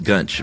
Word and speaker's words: Gunch: Yes, Gunch. Rhymes with lunch, she says.